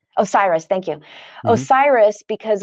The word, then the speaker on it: Osiris: I looked up the pronunciation. Osiris, thank you.